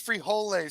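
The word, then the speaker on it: frijoles: hate beans I hate it's pronounced it's pronounced free holay Tony not Freedom free holes uh we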